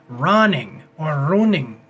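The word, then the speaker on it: Rønning: Okay, and then we have the director, who is Joachim Roning. Because of the way that it's spelled, it has a little slash through it, the O does.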